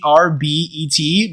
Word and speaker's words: Herbet: Spelled Herbet, but the H is silent, like herb.